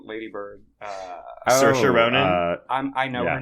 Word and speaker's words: Saoirse: Is like Saoirse Ronan. Saoirse. It's Sursha. That's how you pronounce it.